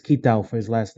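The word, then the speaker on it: Kitao: discoveries said software's producer yes sushi i'm probably pronouncing this yesurio that right i think it's kitab for his last name yeah kitau thank you basically from software producer kitau in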